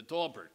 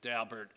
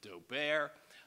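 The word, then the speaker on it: Daubert: most judges pronounce it dalbert uh a few snobs pronounce it doar um but it is in fact Mr Mr dobert pronounces it Dober and he should know um so U I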